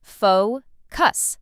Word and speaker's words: focus: Some learners put the stress in the wrong place, but it's simple. Faux cuss. Stress on the first part.